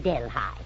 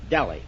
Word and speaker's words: Delhi: Oh, you mean Delhigh? No, sir. Delhi. They taught us in school that it was Delhigh. Yeah. Well, that's old-fashioned. It's Delhi now. Rhymes with jelly.